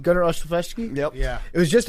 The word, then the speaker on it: Olszewski: Gunnar Olszewski?